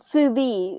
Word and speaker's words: Suvie: It's called sous vide, and they spell it like SUVIE, sous vide.